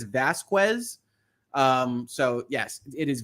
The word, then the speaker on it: Vasquez: Vasquez is pronounced correctly it's phonetically Vasquez Elaine repeatedly said it wrong I had to ask myself I'm like I've been saying Vasquez the whole time and I think Elaine every time says Vasquez um so yes it